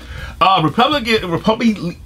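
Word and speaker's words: République: Republique.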